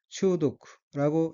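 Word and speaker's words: 中毒: 다음 어휘는 한자가 한국어로 중독이고 각기 가운데 중 독독자이고 일본어로는 추독라고 읽으며 추독은 중독이란 뜻입니다. 다음 어휘는 한자가 찌를 자자이고 일본어로는 사시타라고 읽으며 사시타는 찌르다, 꿰다, 쏘다는 뜻의 사스의 과거형으로 사시타는 찔렀다는 뜻입니다.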